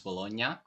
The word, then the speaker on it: Bologna: I'm not sure how to pronounce that, because the Italian pronunciation, so the right one, is Bologna, but it just sounds wrong in English. Bologna sandwich. No, it's Bologna. It sounds fine.